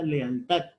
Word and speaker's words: lealtad: En la sílaba tat. Lealtad.